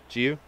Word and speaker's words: Giyu: Is that how do you pronounce it, or Gyu? Giyu.